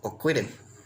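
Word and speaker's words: ocuilin: In Tuxpan, it's pronounced Oquidim. Oquidim. The L is pronounced more like an R, Oquidim, and the IN is more oftenly pronounced as I am.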